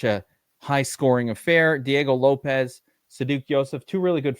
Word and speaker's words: Lopes: distance they think it's Lopez or Lopes as I actually think it's pronounced with this fellow um